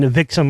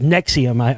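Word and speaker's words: NXIVM: I was saying Nevixum or what. It's actually pronounced Nexium, I heard.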